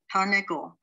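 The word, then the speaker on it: תרנגול: The second word, tar, the first shva stops a syllable, and when you have two shvas, the second one has its own syllable. Ne, gol, tarnegol.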